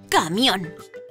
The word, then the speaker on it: camión: sílaba Como por ejemplo la palabra camión cón mion es la sílaba tónica y además es la última sílaba por lo que esta